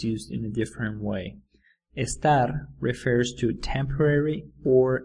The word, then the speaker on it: estar: to think of how the pronunciation of estar sounds a little like the word star the ones in the